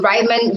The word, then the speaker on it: Ryman: the show Rayman sne hi hi are we pronouncing your name right could you is it rean or Ryman or Ryman Ryman Ry okay yeah it's you're our first Ryman